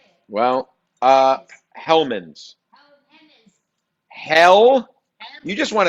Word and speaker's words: Hellmann's: Well, Hellmann's.